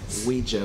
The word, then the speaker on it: Ouija: It's pronounced Ouija board.